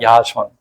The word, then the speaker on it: 야손: 야손. 야손이라는 말은 히브리어로 여호수아라는 뜻이에요. 이게 헬라의식 발음이 야손입니다.